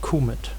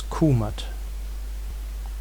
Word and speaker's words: Kúmat: We can also go further back in time, until a time where the T was still pronounced. Then it was Kúmat.